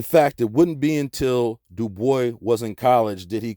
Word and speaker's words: Du Bois: David Levering Lewis W.E.B Du Bois yes he always insisted on that pronunciation he did not like the Gaelic pronunciation though in his antecedence he was partly French look at this nigga's